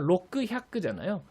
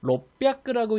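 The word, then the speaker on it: ろっぴゃく: 원래 그대로 읽으면 로크 햅크잖아요. 근데 로크 햅크라고 읽지 않고 롯뼈크라고 읽는 예외적인 규칙이 있다고 배우셨을 것 같아요.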